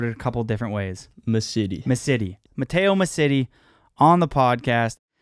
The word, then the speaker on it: Massitti: Massitti.